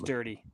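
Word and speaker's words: Durde: And then uh Ardan, I don't know if is Dirty or Dur. I don't know how to say it. I was getting yelled at. Pretty sure it's dirty.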